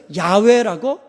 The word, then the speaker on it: 야훼: 그래서 이것을 야훼라고 읽었습니다. 그런데 경건한 유대인들이 하나님의 이름, 감히 하나님의 이름을 부를 수가 없었어요. 그러다가 이 야훼라는 말이 나오면 부를 수가 없으니까 부르긴 불러야 되는데, 그래서 야훼라는 글자가 나오면 아도나이로 불렀어요.